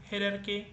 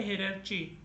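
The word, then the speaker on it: hierarchy: इसे हम बोलते हैं हेरके। ओके? हेरके। इट्स नॉट अ हेरार्ची। इसे बहुत सारे लोग बोलते हैं हेरर्ची। तो वो हेरर्ची नहीं बोलने का।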